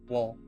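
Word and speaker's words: Woll: Is it Wolf or Wool? Wool. W O L L.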